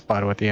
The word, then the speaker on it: Parvati: stuff like that well her name is parvati and the way they pronounce it the butcher butcher it like poverty i suppose so but